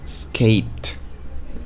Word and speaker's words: escaped: Escaped. Escaped. Suena como más como una T.